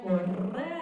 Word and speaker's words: Correa: And I introduce myself as I am your school principal, and I'm Correa, and I make sure that I pronounce my double R's.